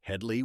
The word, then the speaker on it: Hedley: Korman, meanwhile, leaned into the absurdity, insisting characters pronounce it Hedley while being constantly mistaken for Hedy.